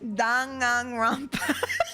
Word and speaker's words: Danganronpa: God, that's how you pronounce it, right? It's not No. Danganronpa. Danganronpa. Danganronpa. So it's Danganronpa. Danganronpa.